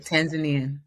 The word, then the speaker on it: Tanzanian: Tanzanian. Yeah, that was right. Tanzanian.